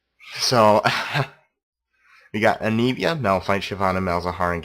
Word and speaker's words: Anivia: of oldies melphite and anivia i'm sorry if i pronounce that right but that's the correct pronunciation of it even though ryan doesn't think that way anivia so we got anivia now fight shyvana malzahar